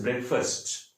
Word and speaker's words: breakfast: इसे हम ब्रेकफास्ट बोलते हैं, लेकिन इसका जो सही प्रोनाउंसिएशन है, सही उच्चारण है, दैट इज ब्रेकफास्ट। इसको हम फर्स्ट बोलते हैं, फास्ट नहीं, लिखते फास्ट है, पढ़ते फर्स्ट है।